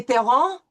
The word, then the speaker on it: parents: We have an E-N, and you know that that's going to be a nasal vowel. And we will not pronounce the T-S. Mes parents jouent au domino.